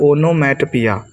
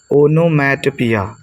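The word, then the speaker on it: onomatopoeia: तो क्या हो जाएगा ओनो मैट पिया ओन मैट पिया बस ऐसे ही रख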